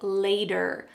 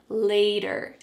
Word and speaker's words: later: There's a T, but it sounds like a D. Is this happening again? Yes. Here we have a T between two vowels, and so the word later doesn't sound like ter, later. Instead, it's going to sound like later, later.